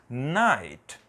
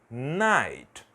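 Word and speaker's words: knight: vai ser ni e nessa palavra eu também não vou pronunciar o k vai ser apenas night night então este é um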